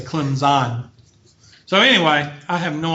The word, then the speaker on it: Clemson: Math Science 301 at Clemson. Okay, you got to say Clemson. You can't pronounce the P because then you're a dumb racist Southerner.